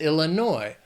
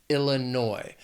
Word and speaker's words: Illinois: Then there's Illinois. Also 3 syllables, but the stress is on the third syllable, Illinois.